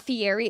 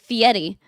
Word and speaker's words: Fieri: And that's apparently how you do say his name is not Fieri. It's apparently Fiieti. I watched an interview and he was he said it's Fietti. And a lot of people get that wrong.